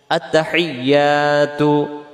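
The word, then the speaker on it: التحيات: হাজের হি, ইয়ার উপরে তাসজিদ আসছে, এই তাসজিদটা সহ আদায় করার জন্য বলতে হবে আত্তাহি হেই, এমন আওয়াজ হবে আত্তাহিয়াতু আত্তাহিয়াতু আত্তাহিয়াতু।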